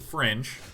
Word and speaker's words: Fringe: It is Fring! Some people pronounce it Fringe.